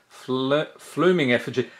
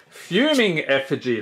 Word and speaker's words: Fuming Effigy: ink in this set flooming effigy fuming effigy that's how you pronounce it pillar drop rescuer blood